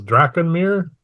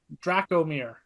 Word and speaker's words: Dracomir: You said it was Drakenmere? Dracomir, like as in Draco, and then Mir is in like a mirror is a swamp.